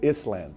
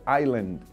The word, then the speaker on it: island: island and gilligan's island i was always calling it island because that s is in it so people will laugh and say what show are you watching i said last night i watched gilligan's island and they said it's island i couldn't promote i